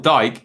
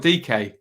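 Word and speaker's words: Dike: judge says evening ben daryl dyke is pronounced daryl dk nice thank you jed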